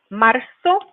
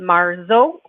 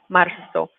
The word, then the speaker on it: marzo: And making sure that when you pronounce marzo, that we're not saying it marzo with a z sound like an English Z, but it's like a soft S sound. El 2 de marzo. Marzo.